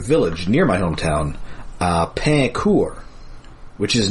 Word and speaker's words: Pain Court: uh French Canadian village near my hometown uh Pur, which is not pronounced pain court.